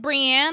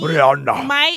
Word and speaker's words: Brienne: Like Brienne on the show, like for me, Brianna.